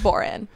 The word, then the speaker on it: Boron: fun of me but it's actually pronounced boring not boring okay I know it's it's spelt boron so I usually just say that if someone asking but